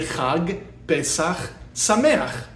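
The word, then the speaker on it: חג פסח שמח: We would say chag, pesaχ, sa-MAY-ach.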